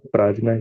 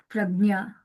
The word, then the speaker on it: Prajna: So my name is Pragnya. So J is silent. It's It's spelled that way, but it's pronounced Pragnya.